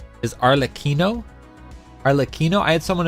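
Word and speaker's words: Arlecchino: my pronunciation and I I thought it was like for sure arlachino because like the double C would generally give us like the the CH sound and then there's a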